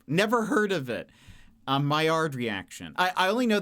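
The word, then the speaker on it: Maillard: It's spelled M A I L L A R D. But I think it's like Mayard. I think it is a French.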